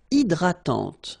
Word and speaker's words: hydratante: Une crème hydratante. So remember, H is not existing, and then this Y is pronounced like I. Hydratante. Okay, don't insist on the final E, and this is nasal.